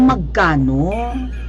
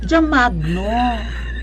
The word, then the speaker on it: Magno: Magno Hindi po J Magkano Magno alisin niyo yung K at saka letter a hindi di magano wala yung syllable na ka mag no hindi mag ka no mag no two syllables mag no mag no